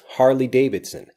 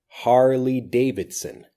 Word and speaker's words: Harley Davidson: Harley Davidson Harley Davidson listen carefully to the blending of this Harley Davidson Harley Davidson Harley Davidson this is